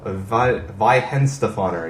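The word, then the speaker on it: Weihenstephaner: He said the German W's are always pronounced as V's, so Weihenstefaner. He said Vi instead of Wen.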